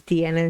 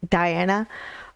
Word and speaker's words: Diana: to listen to deanna i think that's how you pronounce her name is deanna not diana um i still don't